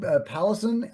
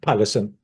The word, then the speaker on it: Pallesen: I'm so sorry, but Pallison, how do you say your Mm. name? Pallesen.